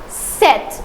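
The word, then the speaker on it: chaussettes: I know that this one is little difficult to pronounce because shet. Now this is double s. So it is sir not z but sir. So the pronunciation is shet.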